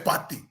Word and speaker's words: Partey: Say Party.